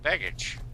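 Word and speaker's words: Begich: it's uh Senator Mark how do you pronounce his last name b g i c oh bage okay he's a crook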